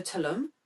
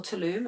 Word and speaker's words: Tulum: love to go to talum or Tulum I think told I said it wrong before like I want to